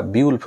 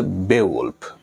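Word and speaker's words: Beowulf: এটার উচ্চারণ যদিও আমরা বা টিচাররা বিউল্ফ বলে থাকি, বিউল্ফ, আসলে এটার সঠিক উচ্চারণ হচ্ছে বেওয়ুলফ, যেটা একটা বললেই হয় মানুষের নাম প্লাস একটা মহাকাব্যের নাম।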